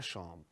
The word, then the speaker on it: chambre: La frase fue, je suis dans ma chambre.